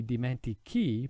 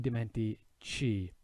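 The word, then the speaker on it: dimentichi: have a hard c now if i were to put that h in there the sound wouldn't be dimenti key but it would be dimenti chi so again that h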